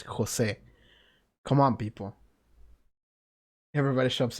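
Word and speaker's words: José: Jose huh I don't I don't like the way people pronounce Jose by the way it's Jose um but they say were like an English accent so it's it becomes like Jose and it's like no that's not how you say it it's Jose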